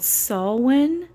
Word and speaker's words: Samhain: Halloween is actually a pagan festival, and it's actually called Samhain, but it's spelled like Sam Hain, okay?